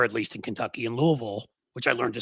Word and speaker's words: Louisville: least in Kentucky in Louisville, which I learned to say right too. You have to say it like you got food in your mouth.